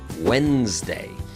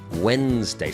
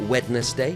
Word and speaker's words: Wednesday: a very difficult one Wednesday Wednesday so I would say that the the D is silent but it also feels like some other letters are missing but the the most